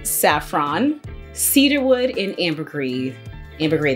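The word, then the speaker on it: ambergris: mm-hmm it's a little lower than the utsan mood it's got Jasmine saffron Cedarwood and Amber green ambergrade the S is silent hello French yes I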